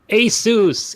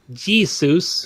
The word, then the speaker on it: ASUS: you saying my name ASUS ASUS not Jesus it sounds like Jesus this is how people say it sometimes Asus is a